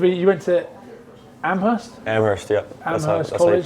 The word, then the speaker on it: Amherst: Amherst, yeah. Amherst College. How you pronounce it.